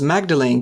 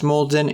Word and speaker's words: Magdalene: of magic is called mulden grimoire agrimoi is just a fancy word for a magical book and even though due to the way it's spelled one might pronounce it as magdalene grimoire but as it was